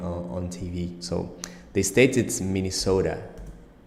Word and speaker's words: Minnesota: TV so they stated Minnesota Minnesota look at the at the T it's pronounced not like a tea or like a d like Minnesota and it's the Flappy